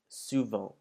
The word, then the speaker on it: souvent: Now you'll notice that this word ends in ENT, and before you were told never to pronounce the ENTs, this word is one of the few exceptions where you would pronounce the final ENT of the word.